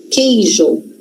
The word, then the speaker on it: queijo: Então, quando eu tenho qu num dígrafo, presta atenção, queijo aquele aquilo. Que que acontece aqui? Esse u som. A gente não escuta o som do U.